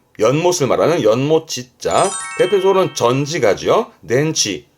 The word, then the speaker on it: 電池: 덴치 덴치 전기가 모여 있는 그 건전지의 전제였습니다.